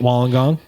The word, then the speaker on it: Wollongong: but now we know how to say it while I'm gone it's fun to say and it is yeah